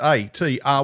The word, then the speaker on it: ATR: it because it is a t r wines we had a few heads yeah not art wines which is it quite often gets that but it's atr yeah nice initials are my